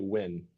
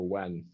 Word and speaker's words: Nguyen: I've heard different ways of pronouncing that name. Probably Win or Wen. Win. So Nguyen is Win.